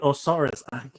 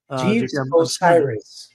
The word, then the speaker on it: Osiris: but um uh J je Jes or right osaris how do you can you pronounce that Osiris Jes Osiris my apologies I was I was